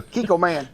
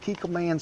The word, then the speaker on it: Kikkoman: Uncle Roger have brother living in Japan. I checked with him. It pronounced Kiko Man. And we're going to start off with 1/4 of a cup of Kikkoman soy sauce and then 1/2 cup Kikkoman teriyaki sauce.